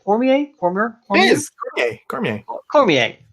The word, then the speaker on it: Cormier: is Cormier. Cormier. Cormier. It's Is it? French. Excellent, excellent. I'm glad I almost pronounced it right the first time.